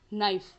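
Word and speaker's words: knife: जैसे एग्जाम्पल है फ्रेंड्स हमारा, अब यहाँ पे अगर हम समझें नाइफ, यानी यहाँ पर के का उच्चारण नहीं किया जा रहा, ये साइलेंट है, जबकि फ्रेंड्स देवनागरी लिपि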